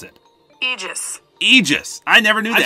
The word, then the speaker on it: Aegis: And the main one is huge, and it's A-E-G-I-S. So I always thought that was pronounced Aegis, but I just typed it into Google just to make sure I didn't sound dumb.